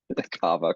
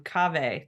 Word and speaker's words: Kaveh: fanboy than a star it was like rhymes with Java so I think it's I had no that's going to take a lot of undoing in my brain because he's been cave to me forever yeah